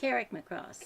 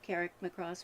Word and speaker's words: Carrickmacross: So pronounce that for us. Carrickmacross.